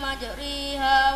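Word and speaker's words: مجريها: Qala rukabu fiha bismillahi majriha wa mursaha. Pala caranya majroha harus dibaca imalah. Ronya harus dibaca imalah. Imalah ialah mencondongkan alif mendekati kepada ya majriha.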